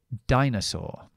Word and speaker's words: dinosaur: la o larga pero aquí pronunciamos la y como necesario cómo es eso a a por lo tanto tenemos que decir Die Die n dinosaur dinosaur o meter la r si